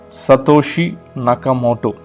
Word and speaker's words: Satoshi Nakamoto: They have a pseudonym, Satoshi Nakamoto. I'll spell it for you. SATOSHINAKAMOTO.